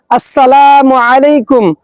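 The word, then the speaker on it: السلام عليكم: এজন্য আমরা যখন সালাম দিব অবশ্যই সালামের আসসালামু এর হামজা এবং মিমের মিমের পেশকে স্পষ্ট করে সহিহ করে উচ্চারণ করব। এভাবে আমরা সালাম বিনিময় করব। আসসালামু আলাইকুম ওয়ারাহমাতুল্লাহি ওয়াবারাকাতুহ।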